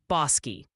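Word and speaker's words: Bosque: Oh, and the official ruling from the chat council is Bos County, Texas is pronounced Bosi.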